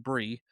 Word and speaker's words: Brix: So I can't really name most of the wineries we went to, but 21 Brie, spelled Brix, but it's pronounced Brie, was probably my favorite place we went to.